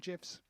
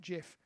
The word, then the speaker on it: GIF: please saying gifts gifts gifts gifts no not gifs like lemon no what jeff lemon no some people pronounce it jeff yes but those people are wrong i know the creator of the gif pronounces it jif but he is wrong does he really yes